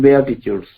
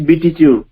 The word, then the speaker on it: beatitude: कहार ना द बेआटिट्यूड्स, अनग्रास्प्ड बेआटिट्यूड्स. बंधुगण बेआटिट्यूड रो spelling देखिबे BEATITUDES. किसी भाई भौणी माने पढ़िबार हम सुनिछि बीटीट्यूड, but that is a wrong pronunciation. It इज बेआटिट्यूड.